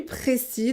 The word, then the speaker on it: précis: On ne prononce pas le S, on prononce le S au féminin. Je suis précise.